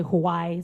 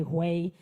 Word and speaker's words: Huawei: Honda and Huawei are some of them. Some say Hawaii, some say Hui, but I think it's Huawei.